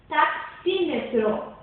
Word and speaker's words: taxímetro: Taxímetro. A sílaba tônica é xi e a subtônica é tá.